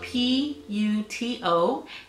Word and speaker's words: puto: It is spelled P-U-T-O. It's pronounced puto.